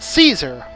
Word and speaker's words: Caesar: But in English, you have an A right after the C. So, it's supposed to be a hard C.